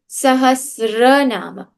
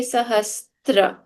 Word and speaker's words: Sahasranama: Now, the most common mistake, people say Sahasranama. There is no word called Sahasranama, even in Hindi or any other language. The word is correctly Sahasranama. But because this kind of looks like a tra, people say Sahastra. So please, now that you are in Sanskrit class, you will not say Sahastra again.